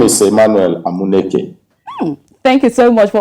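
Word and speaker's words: Emmanuel Amuneke: hear it from the legend himself how to pronounce your name well my name is Emmanuel nak it thank you so much for all those who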